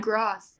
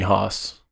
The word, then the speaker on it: Gosse: It's Gosse. Gosse without the R. Gosse. Gosse. Rhymes with sauce. Smells like boss. G-O-S-S-E? Some people call me Haas.